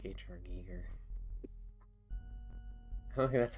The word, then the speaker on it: Giger: Giger.